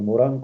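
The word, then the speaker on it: Morin: Bueno, este postdoctorado creo que es una magnífica oportunidad, no solamente para revisar la obra de Morín, o de Morán, como se pronuncia.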